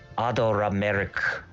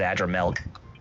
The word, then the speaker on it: Adramelech: Adorameric. That's how they say it in Japanese. So it is Adramelech.